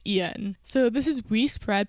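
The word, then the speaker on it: Iain: have we spread by ion Reed Ian because of the way his name is spelled I'm always tempted to say it a different way but it is Ian so this is we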